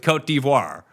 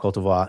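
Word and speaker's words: Côte d'Ivoire: the only country with Kot Divvoir that we actually have to use in an English-speaking language. We have to use the pronunciation of the native language of the country, which we don't do for any other country.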